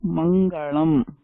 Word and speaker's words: மங்களம்: One of the best examples for this is saying மங்களம். ஆனா இப்ப எல்லாரும் மங்களம். இப்ப உங்களுக்கே வித்தியாசம் தெரியறதில்ல என்ன சொல்றதுல மங்களம் மங்களம். There's a difference in slight difference in how you say it.